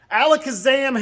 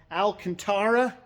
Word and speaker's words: Alcantara: The other thing that was dropped off this week was the Alakazam headliner material. I know, I keep saying it wrong. Alcantara, Alakazam, Alakazoo, bippity boppity boo.